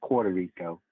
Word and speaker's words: Puerto Rico: No, it's Puerto Rico, man.